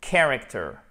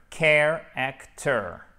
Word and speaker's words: character: A character, care-actor, a care-actor, character, a character. Donc on a notre accent tonique ici, care-actor, faut bien faire le en American English.